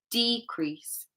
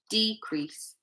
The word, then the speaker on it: decrease: We emphasize or stress the first part, decrease.